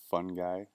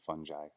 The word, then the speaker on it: fungi: remember it is that my friend mushroom is a fun guy so make sense fun guy kind of silly but